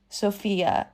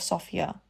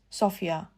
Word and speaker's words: Sophia: And the duchies got so triggered, which I can understand why because I hate it when someone says Sophia instead of Sophia. It's Sophia. Come on, it's not that difficult.